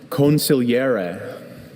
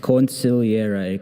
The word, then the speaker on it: consigliere: Consigliere. Consigliere. Can I please have all the word information? Sure. I have a few pronunciations. Consigliere, consigliere, consigliere, consigliere.